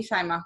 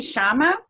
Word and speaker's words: Shyma: pronouncing your name correctly shima because i know the first one is shaima i know how to say that it's actually shama oshama and that is actually my spiritual name uh that was given